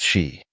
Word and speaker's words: Xi: Anne's expression was Indescribable the name is pronounced shei wanan corrected herself immediately